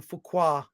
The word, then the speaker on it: Fuqua: The director, Antoine Fuqua, I'm probably pronouncing that incorrectly. No, that's right. You got it right. Is it Fuqua?